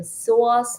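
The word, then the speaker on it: psoas: out and Google it it's called PS o a s so soas muscle the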